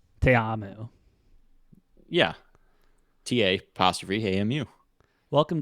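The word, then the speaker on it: Ta'amu: a specific Islander name you got to pronounce all the vowels and there's two A's so te amo yeah ta apostrophe AMU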